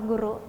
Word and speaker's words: goero: Di tulisannya goero ya. Ya. Tapi dibacanya tetap sama guru.